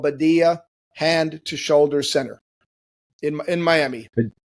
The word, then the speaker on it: Badia: So, did I pronounce that right? Badia.